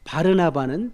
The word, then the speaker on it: 바르나바: 바르나바는 바나바겠죠. 바나바 원래 바르나바라고 발음하는게 맞아요. 아라모 발음이 정확하게 바르나바니까 나바의 아들.